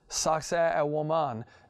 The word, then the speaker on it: Sacsayhuaman: For example, when you go visit, they actually pronounce it Sacsayhuaman, which is, you know, they say sexy woman is the name of it, this place.